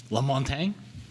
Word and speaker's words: Lamontagne: Monty Lamontagne. Lamontagne? Did I say it right? Yeah.